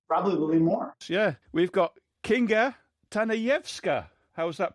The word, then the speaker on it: Kinga Tanajewska: Yeah, we've got Kinga Tanajewska. How's that pronunciation?